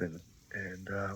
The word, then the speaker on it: eh: If you know Canadians, we often say A, which is spelled EH.